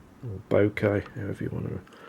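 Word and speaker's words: bokeh: them these days down not Boca bouquet now if you want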